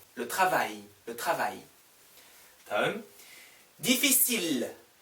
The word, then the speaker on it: difficile: 다음, difficile, difficile. 여기에서 L 발음 나와요. L 하나밖에 없으니까. 여기 보세요. famille, L 발음 안 나와요. I, L, L, E, 그냥 famille. 여기 L 하나밖에 없으니까 difficile, L, difficile.